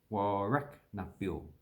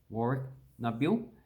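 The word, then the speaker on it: Warracknabeal: Warrak Nabil. And that's pretty much pronounced how it actually looks. So Warrak Nabil.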